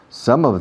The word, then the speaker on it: some of: La M se cierra la boca y se usa como trampolín.